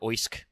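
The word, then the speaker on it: Oisc: Oish or Osk which is spelled O I S C was an Anglo-Saxon king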